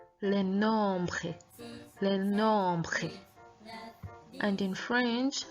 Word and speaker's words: nombres: Please note the pronunciation of that word, les nombres, nombre, nombre. Note how we pronounce the R in French, and I hope you enjoy this lesson.